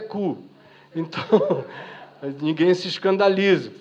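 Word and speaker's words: Koo: mas a pronúncia com 2 Os é cu.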